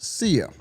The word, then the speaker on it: Sia: Her name is pronounced CIA and she is an Australian pop singer.